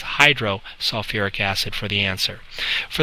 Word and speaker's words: hydrosulfuric: like we did before, we're going to add that extra little syllable, sulfuric acid. So it says hydrosulfuric acid for the answer.